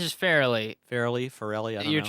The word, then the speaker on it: Farrelly: It's just Farrelly.